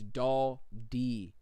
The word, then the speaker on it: Daldi: Said, bro, it's Doll D. I don't know what I said, but my bad, dude. Daldi.